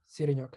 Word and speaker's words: Siriniok: He has Siriniok. Is that how you say it? How you say your last name? Yeah, Siriniok. Yeah. I did pretty good. All right. So yeah. If you spell it, it's like Siri and then NIOK.me.